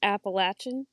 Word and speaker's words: Appalachian: bunch of blue people it's pronounced appalachin yeah no I'm bad